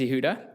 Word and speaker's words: Yehuda: and then we have Yehuda hello I probably butchered your name sorry no it's okay yeah you you pronounced it right um yeah my name is Yuda I'm a longstanding Oceanside